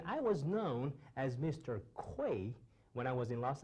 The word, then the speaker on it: Cui: My surname is Cui, which is spelled as C-U-I with the Chinese pinyin, and I was known as Mr. Kui when I was in Los Angeles.